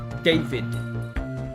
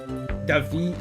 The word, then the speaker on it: David: If you're in Brazil and your name is written David, you're called Davi, even with the D at the end.